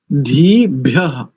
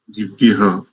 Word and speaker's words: धीभ्यः: लोग धीव्य ऐसा करेंगे, ये दोनों गलत है। धीभ्य सब लोग इसका ध्यान रखें, क्योंकि दोनों ही वर्ण महाप्राण वाले हैं। ध और भा यानी इनमें अधिक प्राण का प्रयोग होगा उच्चारण करते समय। ठीक है, बहुत अच्छा। इनके बाद अमित माने जी से सुनते हैं। जी ओम सन्नः पवस्व शंगवे संजनाय संवर्ते संराजन् नौषधिभ्यः। धीभ्यः, धीभ्यः ऐसा, दिभ्यः और समर्वते, शर्मवते।